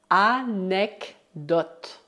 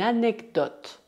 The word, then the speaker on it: anecdote: Nesta palavra, apenas o E final é mudo. Une anecdote. Une anecdote.